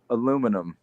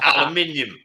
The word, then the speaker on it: aluminium: Aluminum. No. Thank you. Wrong. It's my language. The answer is aluminium. Aluminium. You're adding an extra L.